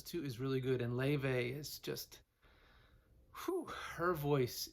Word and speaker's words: Laufey: daughter about 16 times, how do you pronounce her name again? And she was like, Laufey. So anyway, yeah, Laufey.